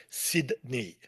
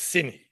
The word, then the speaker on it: Sydney: Local pronunciation, nobody says Toronto. Nobody goes to Toronto. In the same way, nobody goes to Sydney. It's Sydney.